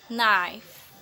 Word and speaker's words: knife: A K is not pronounced with is come before an N, like this: knife, no, knee, knock, not, knowledge.